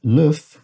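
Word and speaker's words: l'œuf: if situation in french the f is only pronounced when the word is in its singular form as a plural the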